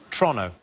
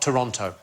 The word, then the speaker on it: Toronto: than it should be so it's Toronto not Toronto oh is it tronic follow like as quick as you possibly can like it's a crime to say a tronic I love Toronto they used to be